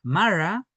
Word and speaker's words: mara: Eh, y es que eh Mara tiende a acentuarse cuando está aislada en esta sílaba, Mara, así como ruca.